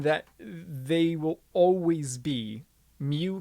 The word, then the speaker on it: mu: a lot like an m um but this is a greek letter um it's pronounced mu and that's your coefficient